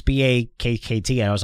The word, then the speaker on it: Bakkt: I think I was calling it's Bach Exchange. It's BAKKT.